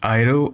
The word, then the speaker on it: Airu: the right way okay uh so this is iro uh he's he's like 9k he's a 9k